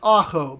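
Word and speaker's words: ahau: and they have their own app it's uh pronounced Ajo but a-h-a-u dot IO and it is a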